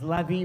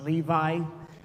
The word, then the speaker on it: Levi: You know, we always mispronounce his name all season long as Levy, but it's Levi.